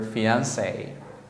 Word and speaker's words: fiancé: If it is a man, you say, oh, he's my fiancé. The same pronunciation, but with not an extra E.